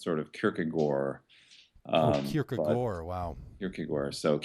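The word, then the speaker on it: gaard: little inconsistent I know the proper Danish pronunciation is not to pronounce the hard D at the end so it's sort of Kore um Kore wow Kore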